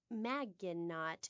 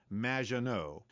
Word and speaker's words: Maginot: in the future there will be robots Maginot welcome to the show thanks Amy however you have mispronounced my name it's m which rhymes with